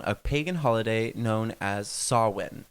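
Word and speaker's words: Samhain: pagan holiday known as sawin it's spelled like Sam Hayne and that's how I was pronouncing it in my head for years that's how I saw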